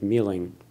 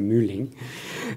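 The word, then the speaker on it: Muehling: L Maya glass uh created by Ted Ming that's the way how you say it here we would say muing um well I was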